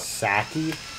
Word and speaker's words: sake: Sake? I'm not a very good mercenary. It's sake, you motherfucker.